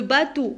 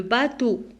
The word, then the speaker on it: bateau: Le bateau, alors E-A-U se prononce O. Le bateau.